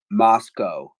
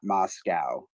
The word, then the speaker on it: Moscow: couple times I guess the locals pronounce it Moscow not Moscow um yes you're right